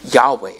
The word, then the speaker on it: Yahweh: Because again, in Hebrew, there are no vowels, so it's just consonants. And so Yahweh is, again, just the best that we could pronounce it.